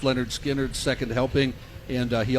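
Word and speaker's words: Lynyrd Skynyrd: the ones everybody knows pronounced Leonard skinnard second helping and uh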